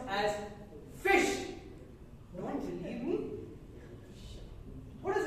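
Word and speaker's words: ghoti: it is pronounced as fish don't believe me what is this word can anyone everyone pronounce it for now take the G pronunciation from enough what is this word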